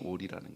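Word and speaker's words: אורי: 여호와 오리라는 말인데요 여호와 오리 꽥꽥거리는 우리가 아니고요 발음이 오리라는 거예요 발음이 오리 여호와가 나의 빛이요라는 말은 우리가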